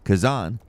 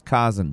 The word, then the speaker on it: Khazan: I I have only recently learned how to pronounce Kazan. I thought it was Kazen before, but rest assured, I've